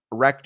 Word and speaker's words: rekt: Wrecked is not what you think it is. It's not spelled WRECKED for all you old people watching. It's spelled REKT. Wrecked. It's a different kind of wrecked.